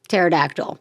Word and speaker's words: pterodactyl: Sometimes the P is silent, like what's the other oh my God, I can't think of any dinosaurs. Pterodactyl. That's the word. Pterodactyl starts with a P.